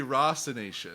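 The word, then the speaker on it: Rasassination: His first album, Rassassination. I mean, so not again, just like Raw-assassination. It should be Raw-assassination.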